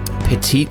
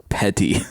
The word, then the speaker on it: petty: the first comment is it's pronounced petty oh oh oh that's it's petty theft he just [ __